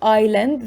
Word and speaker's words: island: as i said it's island the s is silent and it means jazeera